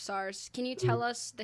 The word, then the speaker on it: SARS: we want to talk about SS or otherwi pronounced SARS can you tell us the history of SARS